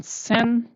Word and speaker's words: zehn: 9 over, and then sen, 10. 10 is called sen, and then 11 is called elf, and 12 is called self.